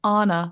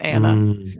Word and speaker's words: Anna: that loera's first name is pronounced Anna like from Frozen not Anna Anna it's Anna our